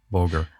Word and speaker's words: Voger: Called, what's the right pronunciation? Is it Voger? Voger.